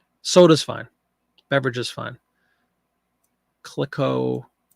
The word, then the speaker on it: Clicquot: Clicquot. We've had this brand before. It's popular. CLICQUOT Club Ginger Ale. Sold several of these ads. Clicquot Club. I think the T is silent.